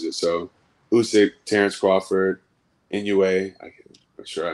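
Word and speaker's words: Inoue: how he approaches it so usyk Terence Crawford inua I I'm sure I mispronounced that oh you got it right you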